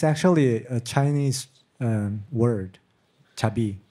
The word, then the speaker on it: 자비: It's actually a Chinese word, chabi. It's pronounced in Korean, but we can write it in Chinese character.